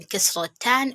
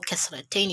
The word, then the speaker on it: Kasratan: Here we have Fathatan or Fathatain, then Kasratan or Kasratain. You can pronounce it either ways.